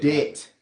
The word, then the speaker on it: debt: of death de de debt de got say de Deb all right the be is silent go ahead it said